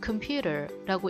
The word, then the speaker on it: computer: 이 computer 같은 경우에는 일단 첫 번째로 이음절 강세, 컴퓨터가 아니라 computer라고 하는 게 중요하고 또 이게 우 사운드 제가 크게 노랗게 써놓은 거 보이죠? computer 이게 아니라 computer라고 발음합니다.